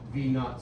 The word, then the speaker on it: V naught: final squared minus M V naught squared. You pronounce that as V naught. Whenever you have a 0, you say it's not. That's how you pronounce it.